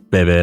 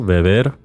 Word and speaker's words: beber: Not that it sounds like it though, and that's because the B sound produced in Spanish is very soft and actually closer to how we English speakers pronounce the letter V.